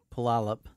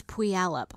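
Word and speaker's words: Puyallup: Washington remember Steve lives in pup oh I said it right that time good job I thought it was P alop oh maybe the order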